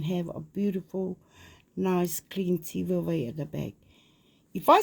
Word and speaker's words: tivaevae: With I prefer Tivaevae, the VAI, but it doesn't stop them saying what they like. But for example, Catherine, because mum's a papa, it's how they say it. So how they like it. And with the F, we don't have a F, but that's the Tahitian way. pronouncing of the Tivaevae.